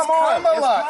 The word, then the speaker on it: Kamala: Let me actually pronounce her name right. Kamala Harris. If Kamala. You said it was Nancy. It's Kamala.